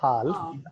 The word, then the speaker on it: half: half, It is not half. L is silent here. So this is half, half.